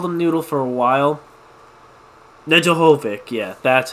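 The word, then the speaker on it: Nedeljkovic: noodle I've called them noodle for a while nedda Hovick yeah that's how you say his name the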